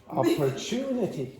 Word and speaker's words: opportunity: So, you have the secondary stress again, you have the secondary stress on the first syllable, and then you have the primary stress on the third syllable. So, again, opportunity.